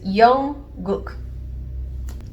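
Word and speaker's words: 영국: What we have here is Young-guk.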